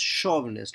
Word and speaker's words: chauvinist: chauvinist I will again recoil it is not pronounced job nest its chauvinist like short show show show nest nests under